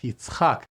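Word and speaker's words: יצחק: And again, it is pronounced Yitzchak.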